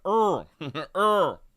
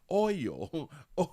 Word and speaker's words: oil: You saying earl when it's pronounced oil remind me of my mom and dad.